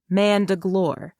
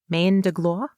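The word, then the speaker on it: main de gloire: come from the French term for mandre root Mand glore or GL GLA I can't pronounce French words m a i n d e g l o i r e Mand GL that's what it sounds like yes Mand Drake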